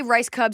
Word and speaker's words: Rajskub: when people stop like if you're going to say just say rice Cub say Ras duub just get it out